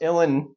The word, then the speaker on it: uilleann: show you uh again illen pipes is pronounced illen but it's spelled u-i-l-l-e-a-n-n um so I'm gonna